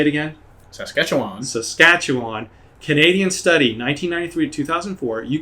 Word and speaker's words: Saskatchewan: and most awesome study out there is the ski scatchawan how do you say that saskatchewan saskatchewan canada it was from 1993 to 2004